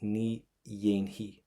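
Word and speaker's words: Ní dhéanfaidh: But see this F, don't pronounce it. Rookie mistake. So what we have is Ni Yainhi.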